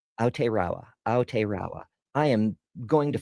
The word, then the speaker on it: Aotearoa: Margie says, the unpronounceable thing is pronounced Aotearoa. Aotearoa.